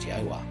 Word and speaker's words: Yahuah: It's pronounced Yahuah, from the Hebrew root what to exist or to be.